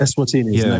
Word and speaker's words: Eswatini: Is that how you pronounce it? Eswatini.